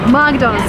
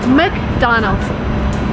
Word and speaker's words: McDonald's: It's not McDonald's or McDonald's, it's McDonald's. It's very funny, so McDonald's.